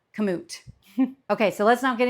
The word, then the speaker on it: Kamut: that I usually refer to this grain as cimu and that's because years ago I could have